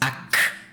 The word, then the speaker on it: Ak: It's the proper pronunciation is Ak. It's very harsh, but I'm not gonna say it each time.